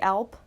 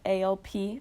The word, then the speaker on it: Alp: The German Alp, A-L-P. I think that's how you pronounce it, right? Like the Alps.